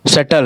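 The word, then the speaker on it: subtle: ठीक है, इसमें बी जो है सो उच्चारण नहीं होता है। और अगला हमारा शटल है, SUVTLE, शटल।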